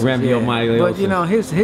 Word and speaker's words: Rhabdomyolysis: I know Bermane had, I always pronounce this wrong, Rambomyolysis. I think it's Rhabdomyolysis. Rhabdomyolysis.